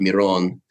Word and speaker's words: Miron: uh would be pronounced Miron but uh yeah in the US I I tell people it's it's more that's how most people know me it'd be like phonetically it would be spelled m-e-r-o-n-e yeah well at the